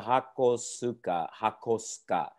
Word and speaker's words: Hakosuka: If you broke it down, Hakosuka is the proper pronunciation of that word.